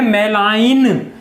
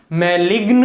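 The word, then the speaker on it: malign: अच्छा, प्रोनाउंसिएशन है मेलाइन, मैलिग्न मत पढ़ना, ठीक है।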